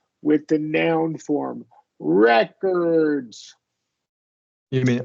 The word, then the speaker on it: record: Rec record and then in the noun form make sure we're stressing the first syllable records Rec recors recor yeah